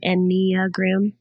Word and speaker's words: Enneagram: Enneagram.